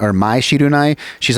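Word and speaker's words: Mai Shiranui: And they have this character, Maya Shirunai, I think is how you pronounce it, or Mai Shirunai.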